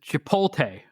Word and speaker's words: Chipotle: Yeah, he pronounces it Chipotle.